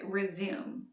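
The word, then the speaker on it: résumé: tv console resume versus resume as a noun resume is pronounced with three syllables resume which is the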